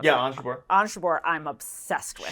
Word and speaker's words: Ons Jabeur: How do you pronounce it? Yeah, Ons Jabeur.